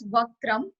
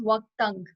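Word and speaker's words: वक्त्रं: So some people pronounce like the first word as Vaktram, but according to the like original Hindi and what our saints wrote it, so the correct pronunciation is Vaktang.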